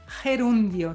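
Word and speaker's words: gerundio: trouxe a palavra gerúndio como se diz gerúndio em Castelhanos es Herondy ó tá não tem acento eronio não tem acento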